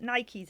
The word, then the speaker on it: Nike: And so I noticed you pronounce it Nikes as well.